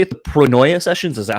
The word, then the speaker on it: Pronoia: interesting and and do you say it the pronoia sessions is that how you say it yeah